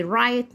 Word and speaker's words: right: حروف صامته ما بننطقهاش، زي رايت، نايت، 8، بات، لايت.